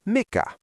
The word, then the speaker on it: mikä: The word for what when you are pointing at a solid object is mikah.